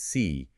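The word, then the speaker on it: 四: In Mandarin Chinese, the word for four is pronounced si and the word for death is pronounced si.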